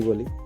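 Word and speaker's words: bowl: আরেকটা সেরকম ওয়ার্ড আছে বোল বাউল বলি আমরা বাউল বি ও ডব্লিউ ই এল এরকম ভাবে স্পেলিং উচ্চারণ করি বাউল কিন্তু এর কারেক্ট স্পেলিং হবে কারেক্ট উচ্চারণ হবে বোল সেরকমই আরেকটা ওয়ার্ড আছে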